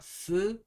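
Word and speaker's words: throat: 때 쓰는 단어는 oat로 이것도 th 발음이라 어려워요 그냥 스라고 생각하셔도 돼요 스로트 로로 이렇게 발음이 되고요 이거는 목구멍이 목구멍이 아플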